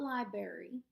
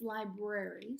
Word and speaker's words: library: N and the team it's not library although my little niece says library it's library so put SP and